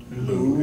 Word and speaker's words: Moo: Douglas Moo, yes, his last name is Moo, like spelled like cow, Moo, M-O-O.